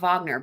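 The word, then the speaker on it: Wagner: Um, I'm assuming you're talking about Vagner, but it's spelled but W A G- N R.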